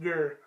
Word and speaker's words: Gur: like the third time, my last name is pronounced Gur. Um, for anybody who ever wonders or shouts me out or anything, it's Gur, like Gur. That's how it's pronounced.